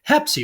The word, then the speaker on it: Hepsy: Hepsy rhymes with Pepsi.